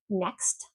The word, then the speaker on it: next: Next, neck. If you don't pronounce that T in next, you're saying neck.